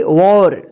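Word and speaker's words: war: यहां पे देखिए डब्ल्यू ए आर, इसको क्या पढ़ेंगे, वॉर, ठीक है। देखिए यहां पे वॉर, डब्ल्यू ए आर है, डबल एल नहीं है, लेकिन फिर भी इसको पढ़ेंगे वॉर, ठीक है।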